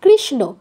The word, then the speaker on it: কৃষ্ণ: আছে কৃষ্ণ কৃষ্ণ বাংলায় কিন্তু সংস্কৃতে হলে দন্তন্য আর মূর্ধন্য মধ্যে পার্থক্যটা বুঝিয়ে দিতে হবে আমরা জানি মূর্ধন্য উচ্চারণ মূর্ধায় আর দন্তন্য দাঁতে তাই কৃষ্ণ বললে ভুল কৃষ্ণা কৃষ্ণা কৃষ্ণা ন এর উচ্চারণটা আগে প্র্যাকটিস করে করে মুখে আনতে হবে তারপর বলতে হবে কৃষ্ণা কৃষ্ণ আর কৃষ্ণা পার্থক্য